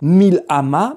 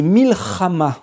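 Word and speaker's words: מלחמה: Et on ne dit pas Mil'ama, mais Milchama.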